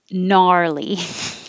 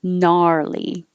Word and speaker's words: gnarly: Thank you, Eddie, for gnarly, because it's fun to say too. Gnarly, just the N. And the vowel is ah, gnarly.